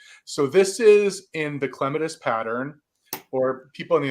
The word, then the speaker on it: clematis: people in the United there's another way people say it, but I say it like the British do because that's just the way I've always said it. Clematis, people say maybe.